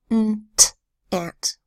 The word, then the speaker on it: aunt: daughter's Aunt Mary and aunt spelled a UNT usually a you says oh but an ant it just makes a short a sound ah ah ant okay I read them